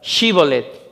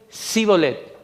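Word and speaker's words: Shibboleth: Y usaban esta palabra, Shibolet. Los hombres de Efraín intentaban pronunciarla, pero no podían. En su lugar decían Sibolet.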